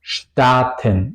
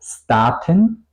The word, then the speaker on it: Staaten: Si es al principio de la palabra o de la sílaba, se pronuncia como SCHT, como Staaten. No digo Staaten.